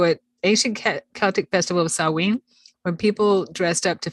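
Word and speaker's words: Samhain: it's spelled s-a-m-h-a-i-n and I learned that it's pronounced sawing yeah because it looks like that and I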